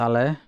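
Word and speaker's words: Allez: You don't pronounce the Z at the end. It's just alle.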